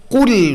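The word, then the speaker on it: قل: কুল এইটা উচ্চারণের জন্য জিহ্বার শেষাংশ ব্যবহার করতে পারতে হবে। বাংলা ভাষায় যেহেতু এই ধরনের সিমিলার কোনো উচ্চারণ আমাদের নাই, তাই এটা আমাদের ভুল হয় অনেকেরই।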